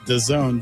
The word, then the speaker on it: DAZN: Dazn pronounced The Zone.